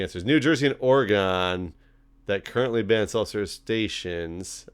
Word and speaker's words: Oregon: The answer is New Jersey and Oregon that currently ban self-service stations. I've never heard Oregon said that way. Oh, Oregon? Yeah. I know, it's supposed to be Oregon, but I say Oregon.